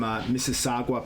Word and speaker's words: Mississauga: So you have Iftikhar Ahmed from Surrey Jaguars, Shaibib Malik from Mississauga Panthers, Mississauga, I think it's pronounced like Mississippi.